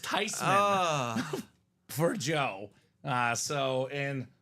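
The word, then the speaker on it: Theismann: and we found out that technically it's not thyman or theeman it's tyman it's tysman it's actually pronounced tysman for Joe uh so in all his life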